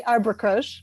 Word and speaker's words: Arbre Croche: it so nicely, Elizabeth, you pronounced it with a French accent, which it should have. . Most of us just say "Arbre Croche -- Arbre Croche Cultural